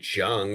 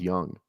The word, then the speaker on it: Jung: I could do Jung if anyone likes him. I do have. I Texas. love Jung, dude. I love Jung. Really? I think it's Young though. I think it's pronounced Young.